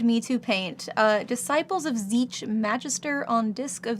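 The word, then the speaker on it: Tzeentch: My favorite mispronunciation of Zeech is Tzesnatek. I have heard it mispronounced Tzesnatek.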